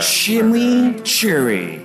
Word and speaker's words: chimichurri: quality introducing Wendy's news chimichurri cheeseburger shimmy Cherry that's how you pronounce it let it roll